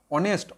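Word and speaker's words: honest: ভালো করে দেখো, তোমরা হয়তো অনেস্টটা দেখে এন বসিয়ে দিতে পারো, কিন্তু অনেস্টের ক্ষেত্রে এইচ থাকলে উচ্চারণটা হয়েছিল অনেস্ট, অ, সেই জন্য এন বসিয়েছিলাম।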